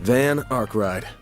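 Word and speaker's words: Van Arkride: name is Van van van arride van arride okay that's how you pronounce it van don't got a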